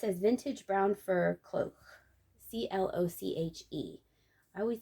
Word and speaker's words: cloche: inside and this is vintage brown fur cloak c-l-o-c-h-e i always pronounce that cloche this hat is the only